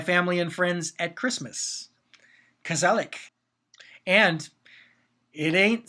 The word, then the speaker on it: gezellig: It's spelled Gezellig. So you might think gezellig, but it's gezellig. So yeah, a Dutch word.